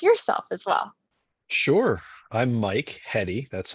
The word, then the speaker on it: Michael Heady: I'm MichaelHeady. That's how you pronounce my last name.